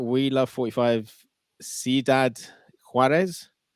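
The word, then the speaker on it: Ciudad Juárez: We love 45 Sidad Huarees. Yes, that's very good. You could say Sudad Huarees or just Huarees.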